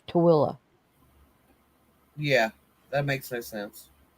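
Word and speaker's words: Tooele: I mean, it's called it's T O O E L L E and it's spelled it's pronounced Tilla. Yeah, that makes no sense. Instead of tuli, it's Tilla.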